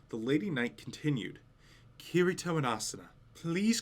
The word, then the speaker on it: Kirito: are difficult to pronounce is it kirito her intonation was slightly off so i repeated myself kirito kirito that's perfect that must have been